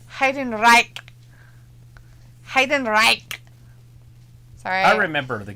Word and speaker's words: Heidenreich: Flash is like, it's pronounced Heidenreich.